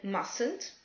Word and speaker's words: mustn't: Attention à la prononciation, certaines lettres sont muettes. Le T de mustn't, le L de could, should et would.